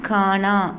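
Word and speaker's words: खाना: சாப்பாடு ஃபுட் அப்படின்னா கானா அப்படின்னு ப்ரொனவுன்ஸ் பண்ணணும்.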